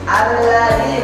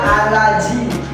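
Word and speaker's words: الذي: Da itu lidahnya digigit. Da. Alladzi bukan alaji, bukan alazi, ya.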